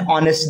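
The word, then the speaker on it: honest: ठीक, लेकिन इसके अतिरिक्त ना कुछ चीजें, जैसे देखिए आपने ऑनेस्ट देखा होगा और लिखा जाता है एन ऑनेस्ट। ठीक है, क्योंकि यहाँ पे ये एच से भले ही स्टार्ट है ना, लेकिन यहाँ पे उच्चारण किसका आ रहा है, आ का रहा है, एन ऑनेस्ट, है ना।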